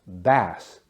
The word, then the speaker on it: bass: fun one b a pronounced bass like the fish it's a type of freshwater fish he caught a huge